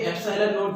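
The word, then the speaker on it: epsilon naught: अब आप सोच रहे होंगे कि एप्सिलॉन क्या चीज है, इसको इस तरह से प्रोनाउंस करेंगे एप्सिलॉन नॉट, और इसकी वैल्यू भी मैं लिख देता हूं 8.85 इंटू 10 की पावर -12, ये भी एक कांस्टेंट है।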